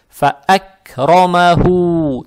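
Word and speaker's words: فَأَكْرَمَهُ: прощения, фа-а, фа-а, фа-ак, далее стоит буква каф, она мягкая, с сукуном, далее буква ро с фатхой, фатха приобретает оттенок о, ро читается твердо, то есть фа-ак-ро, фа-ак-ро, далее мим с фатхой и ха, с даммой, опять ха, точнее дамму тянем за счет буквы вау. Это тоже маттоби'и, то есть фа-ак-ромаху, тянем только два раза.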